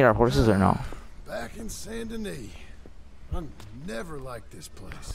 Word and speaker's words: Saint Denis: Saint Denis, that's how you say it.